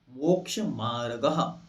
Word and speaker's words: मोक्ष मार्गः: पढ़ते समय ध्यान रखना है, विसर्ग जो 2 बिंदियां हैं इनका उच्चारण हा के जैसा करना है। मोक्ष मार्गः। ठीक।